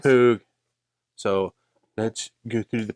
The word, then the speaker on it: Knappogue: I gave it too many syllables. Knappogue.